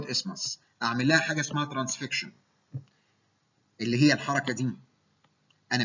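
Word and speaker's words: transfixion: فهعمل لها حاجه اسمها ترانسفيكشن واحيانا تنطق خطا ترانسفيكسيشن. هي الصح ترانسفيكشن، اعتبر ده الثايرويد اسمس.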